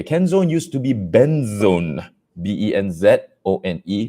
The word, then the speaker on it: Benzone: used to be benzone b-e-n-z-o-n-e which i used to call benzone but many people called it ben's one uh because they both spelled the same way and it used to